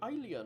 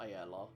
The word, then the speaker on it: Alia: Oh, she's called Alia, not Ayala.